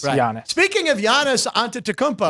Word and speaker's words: Giannis: yanis onto TMO not gianis Chris Andrew I pronounced the Greek name right our sports book director is Greek so uh I got lectured when I said gianis it's Yan Jan yes yes jannis speaking of Giannis an